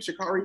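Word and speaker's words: Sha'Carri: But is that how you pronounce her name? Shikari.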